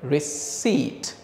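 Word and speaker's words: receipt: আমি কি করছি রিসি আমরা উচ্চারণটা করবো এভাবে রিসিট এই স এবং ঠ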